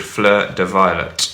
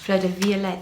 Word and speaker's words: Fleur de Violet: So this next one that we're going to try is called Fleur de Violet. Fleur de Violet. Fleur de Violet. We're just going to say it like that because the word fleur is French.